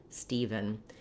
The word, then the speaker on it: Stephen: closely matches the pronunciation if you can pronounce even you can pronounce steven so the first syllable